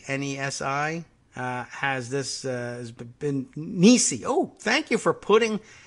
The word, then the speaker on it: Nesi: Ted Nesi, Nesi, has been Nisi. Oh, thank you for putting pronunciation in your Twitter bio.